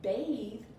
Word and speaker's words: bathe: Bath is B-A-T-H, but bathe is B-A-T-H-E. That E is changing my TH's sound.